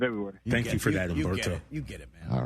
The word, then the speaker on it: Humberto: Is the H silent in your first name, or did I pronounce it correctly? It's mainly Latin. It's like Humberto.